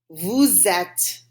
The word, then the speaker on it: vous êtes: Notice I carry that S sound over, so it's vous êtes, right? Not an S, not a silent S this time because there's an E after it.